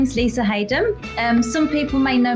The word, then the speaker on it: Haden: back to my maiden name which is Lisa Hayden um people often wonder how to pronounce that so it's uh you say it's